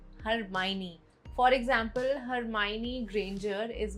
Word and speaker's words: Hermione: Word 22, Hermione, not Hermione, Hermione.